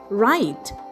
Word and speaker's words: write: The first word we get is write. It's W R I T E.